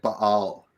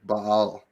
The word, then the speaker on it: Baal: but it's it's like it's a Hebrew it would be like Baal yep it would be like a little a little stutter in the middle like a it's two syllables yep Bal but yeah ball you